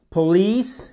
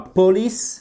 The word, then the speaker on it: police: Police, et voyez, c'est pas police, c'est police, police, accent tonique sur la 2e syllabe, et police officer.